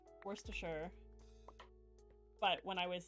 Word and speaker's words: Worcestershire: No, you have to say sh instead of st. Worcestershire.